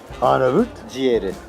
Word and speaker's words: Arnavut ciğeri: We have got Albanian-style liver, which, if I give the local pronunciation of my dear friend next to me, is Arnavut, Arnavut ciğeri.